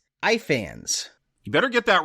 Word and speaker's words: Ifans: Ifans.